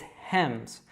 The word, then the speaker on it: Hems: The first syllable is easier, so it's Hems. You just need to make sure that you're pronouncing that H, and that S is actually pronounced as a Z, so Hems.